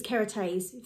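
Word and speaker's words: Kérastase: using my hair I don't sell but is carotene that's how you pronounce it always have done I've tried others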